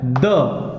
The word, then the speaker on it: the: वो होता है द। क्लियर? इसकी दो प्रोनाउंसिएशन होती है, वो मैं अभी ये सारा समझा के उसके बाद आपको बताऊंगा कि किस तरीके से है। एक होती है द और दूसरी होती है दी।